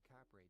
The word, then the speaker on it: Kapre: Their phonological alteration pronounced it Kapre. The early 20th century was also the first time that The phonological thing is there being no f in Tagalog traditionally. So the p, just like in Korean, that you would